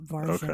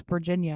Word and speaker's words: Varginha: Is how it's pronounced, Varginha. Okay. I'm surprised. I didn't realize that you had thought it was Virginia.